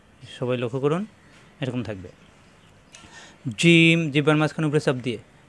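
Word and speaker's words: ج: দেখে হরফ চিনতে হবে এই হরফটা জিম জিহ্বার মাঝখান উপরে তালুতে সওয়াব দিয়ে উচ্চারণ করতে হবে জিম হা খ একই রকম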